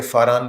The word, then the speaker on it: فاران: پرانی کتابوں کے مطابق۔ تو فاران اور پاران انگریزی میں PARAN اس کا سپیلنگ ہے، اور عربی میں فے کہتے ہیں، پے کی بجائے۔ تو فاران کا علاقے